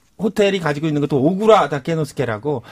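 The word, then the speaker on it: 小倉: 근데 그 오쿠라 호텔이 가지고 있는 것도 오구라 다케노스케라고 네. 또 오구라 컬렉션이 있고 해서 사람들이 헷갈리는데요. 오구라는 소창, 한자로서는 소창이고 오쿠라는 대창, 예. 큰 대자를 써서 이제 약간 발음 비슷해서 오구라 오쿠라 사람들이 소참 헷갈려요.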